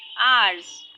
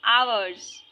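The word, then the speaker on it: hours: इसमें एच का sound, H तो साइलेंट होता है, पर ये जो स्पेलिंग है हम इसे क्या पढ़ते हैं, आर पढ़ते हैं, आर्स, आवर्स, है ना, तो इसका जो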